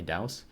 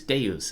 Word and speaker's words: Deus: did a video and i noticed that deuce i say dues but i guess other people pronounce it differently douse deus deus is is what people normally say and i saw that